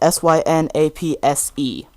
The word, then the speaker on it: Synapse: But even though it's spelled S-Y-N-A-P-S-E.